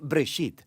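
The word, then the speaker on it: בראשית: Se pronuncia Breshit.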